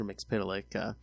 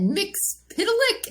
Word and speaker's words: Mxyzptlk: Mxyzptlk.